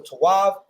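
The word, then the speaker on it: טוב: a word right so tawav which means good right but the oppressor the way he pronounces it is told you know I don't understand his uh his language but I know they say it like this toe so they say mazotov or toe you know whatever right like that sounds effeminate told right to why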